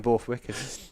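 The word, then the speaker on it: Borthwick: bwick a couple of I don't call him bwick drop the r silent R in bwick as people have been mispronouncing it for 15 years no run it' be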